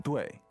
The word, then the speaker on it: 队: So 队 is like a team. 嗯. Fourth tone, 队.